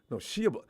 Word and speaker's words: Shia: Shia's getting Shia. How do you pronounce his name?